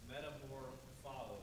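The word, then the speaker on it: μεταμορφόω: practiced it all week it's metamor follow is how you pronounce that and uh that means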